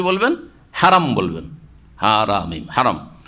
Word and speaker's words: হারাম: বলবেন হারাম বলবেন হারাম হারাম শুদ্ধ উচ্চারণ হেম নয় হেম শরীফ আল মসজিদুল হারাম তারপরে